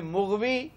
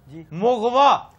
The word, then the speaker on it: مغوی: یہ ہم پہلے کر چکے ہیں کہ مغوی غلط تلفظ ہے. یہ پتہ کیا ہے؟ مغوا.